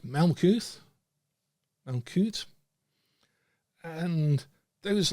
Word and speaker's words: Malkuth: And that is built in to the Hebrew word Malkuth, that means, and always has meant, kingdom. So the kingdom is spelled in Hebrew and pronounced, said, Malkuth, Malkut, and those letters in themselves, long before